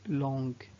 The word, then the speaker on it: long: contraire de course est longue l'ont peut-être pardon c'est long sans prononcer le g où le gars je